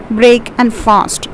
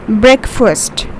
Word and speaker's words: breakfast: daily in the morning most of the people they are pronouncing it as break and fast sorry it's not breakfast but a over here becomes silent and we pronounce this as breakfast right breakfast breakfast break